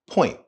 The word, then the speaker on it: point: if you listen carefully the T at the end of the word point is not fully spoken point point it's cut short I get your point